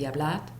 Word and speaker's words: hablad: The pronunciation, we don't do the D that much. We pronounce some speakers like a Z, id, comed, or hablad. But the proper would be hablad, comed, id.